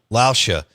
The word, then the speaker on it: Lauscha: And Dennis, how do you say his last name? Lauscha.